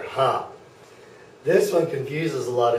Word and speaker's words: H: f g very good this one is pronounced hop it's like laughter hop this one confuses a